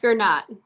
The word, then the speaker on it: Gernaat: It's pronounced Gernaat. Gernaat.